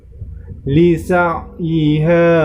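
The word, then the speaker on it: لِسَعْيِهَا: Lisa'iha radiyah. Satu lagi. Lisa'iha radiyah. Ya, di ayat yang ke-9 ini yang perlu diperhatikan, lisa'iha. Di situ terdapat ain sukun. Maka cara membacanya dengan ditekan huruf ainnya.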